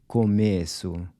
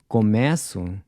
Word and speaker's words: começo: The word for beginning is começo, while começo means I begin.